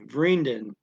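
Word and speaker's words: vrienden: see the word if you realize the v and f are same same phonetically it's just the word friend and the seven s on the end is an en which how they make the plural is usually vereendin okay two friends von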